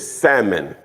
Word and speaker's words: salmon: It's salmon, is what I've been told. The L is silent, right?